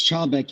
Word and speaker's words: Chalbeck: or is it chailbeck no it's childbeck you said it perfectly most people do mess it up but it's just how it's spelled yep all right excellent